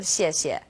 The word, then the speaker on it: 谢: pronunciation of CS yet you can think of it kind of like the word she and AH she she